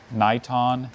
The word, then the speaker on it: niton: it's also called radon niton neeton only two syllables what have we said